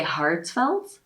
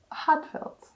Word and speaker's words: Ha:tfelt: start this yeah so heartfelt it's pronounced as a british person would say heartfelt so it's heartfelt heartfelt yeah okay though i've